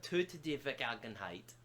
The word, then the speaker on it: Töte die Vergangenheit: Oh, Tota de Vergangenheit. That's how it's pronounced.